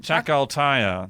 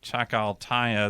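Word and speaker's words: Chacaltaya: Chaka chakal okay how do you say that chakal TAA c h a c a l t ya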